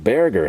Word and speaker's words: Berger: That's right, Berger. Think of bear paint plus Berger, and combine the two, and I think we've got the pronunciation into it.